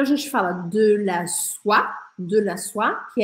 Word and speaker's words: soie: Mas se for de seda, a gente vai falar en soie. E presta atenção que esse E no final aqui eu não vou falar, não vou pronunciar.